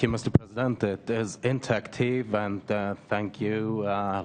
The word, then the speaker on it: intaktiv: the floor to Mr Harold winterling from Germany inter taken I don't pronounce proba correctly the name of the your organization but Mr uh winterling from Germany thank you Mr President it is inactive and uh thank you uh ladies and gentlemen